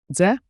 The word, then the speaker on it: Дзе: Z A quick DZE like J with a soft D. Now with a place. Dze tualet Where is the restroom?